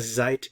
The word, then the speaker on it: seid: Ihr seid geduldig. Ihr seid geduldig. Be careful with the pronunciation here.